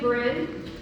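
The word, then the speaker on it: Bryn: Uh, as Sean said, my name is Bin. Um, it's spelled B R Y N.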